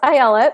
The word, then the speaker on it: Ayelet: which is how it's and it's pronounced Ayala which you pronounce correctly